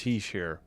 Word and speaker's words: Hischier: Hischier, I forgot how to say it. Hischier. It's Hischier.